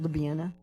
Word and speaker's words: Ljubljana: So that's how it's spelled, Ljubljana, but you pronounce it Ljubljana.